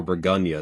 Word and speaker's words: Bourgogne: I'm going to recommend Pinot Noir, specifically from Burgundy or Bourgogne, the French pronunciation.